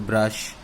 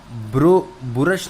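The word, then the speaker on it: brush: तो बुरश नहीं है ये, ब्रश नहीं है ये, इट्स ब्रश, राइट.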